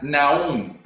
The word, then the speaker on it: Naound: Estamos con Adrián Naum. ¿Se pronuncia así? Naum.